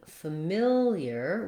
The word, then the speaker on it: familiar: also three syllables but instead of being stressed on the first syllable like similar in familiar we have the stress on the second syllable mill so again we have